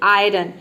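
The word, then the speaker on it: iron: मतलब कि अपवाद है आयरन में देख सकते हैं कि आई के बाद आर आया है लेकिन यहां पे आई को हम अ नहीं प्रोनाउंस करते हैं यहां पे आई को हम आई प्रोनाउंस करते हैं तभी इसका प्रोनंसिएशन होता है आयरन आयरन का मतलब होता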